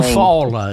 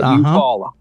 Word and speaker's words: Eufaula: I'm saying it right, but it might be Eufaula, Alabama, or something like that. I can't think of the name. Eufaula is the way that's pronounced. That's it, Eufaula.